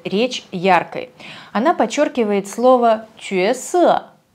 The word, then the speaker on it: 角色: Она подчеркивает слово «чуэсэ» – «роль». Кстати, китайцы часто произносят это слово «тяосэ», как в слове «угол». Тяо, но в данном случае нормативное произношение этого иероглифа именно чуэ, и дилираба этому следует.